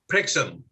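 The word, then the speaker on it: Prexum: spell it just to make sure that the pronunciation isn't skewed uh the way i said is p-r-e-x-u-m prixm and plastic prickson is an ace uh so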